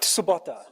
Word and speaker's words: Tsubota: I need to practice my Japanese pronunciation. All right. Makoto Tatsubota. Right. Tsubota.